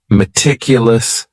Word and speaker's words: meticulous: word is meticulous and this word has four syllables and the stress is on that second syllable meticulous meticulous that first syllable also has that schah that a sound that reduced vowel sound meticulous this is another